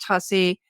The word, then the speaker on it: Tuccy: it's tussy it's spelled Tu ccy but pronounced tussy and uh aside from your website in your